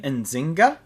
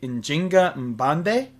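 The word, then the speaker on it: Njinga Mbande: Uh next we have ourselves um in English pronunciation queen Enzinga but in her native language it would be injinga mande.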